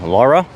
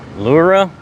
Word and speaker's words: Laura: Our tour has dropped us off here at a little town called, I know I'm going to say it wrong, Laura? Nope. Nope. Lura.